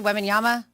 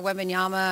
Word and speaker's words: Wembanyama: How do I say Wembanyama?